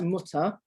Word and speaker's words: Mutter: a sound oh and at the end of a word like mutter it's not pronounced it's like it like in english if you have an er on the end you don't pronounce you don't say it's not like mother um it's just an uh sound against a uh